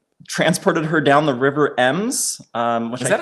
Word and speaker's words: Ems: her down the River Ems. Which is that how I say that? That's how you say it. It's Ems. Okay. Oh, like, look at how beautiful. Like plural M.